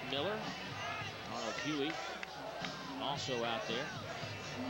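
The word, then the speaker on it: Mueller: There's Mike Miller, even though it's spelled M-U-E-L-L-E-R. It's pronounced Miller.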